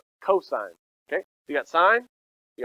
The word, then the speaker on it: cosine: do you say this cosine not cousin cosine okay you got sine you got cosine and then this is when i go to the beach tan gentlemen all right tangent okay so sine cosine tangent uh those are